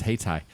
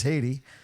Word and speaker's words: Haiti: was going on uh I read that as haytai like South Dakota well we're a bunch of South Dakota Boys I had to think did I see it did I say it right oh you're right it is Haiti and um so uh